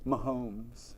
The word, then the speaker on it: Mahomes: Mahomes. Mahomes? Like M-A, Holmes.